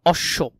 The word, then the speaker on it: অশ্ব: শব্দের মধ্যে বা শেষে বফলা যুক্ত হলে সেটা দ্বিত্ব মানে ডাবল উচ্চারণ হয়, যেমন অশ্ব, এখানে তালিবেশ্য অশ্ব, এই বানানটা খুবই গুরুত্বপূর্ণ, ভালো করে দেখবে।